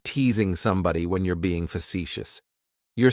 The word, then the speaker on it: facetious: Facetious has 3 syllables, and the stress is on that second syllable. It's like you're just saying the letter C for see. That first syllable has that schwa, that sound.